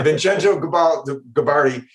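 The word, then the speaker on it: Vincenzo Gibaldi: Yeah, I was going to ask you how to pronounce that. Yeah, Vincenzo Gabardi.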